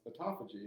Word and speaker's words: autophagy: And I always say autophagy, but it is pronounced autophagy, and that is...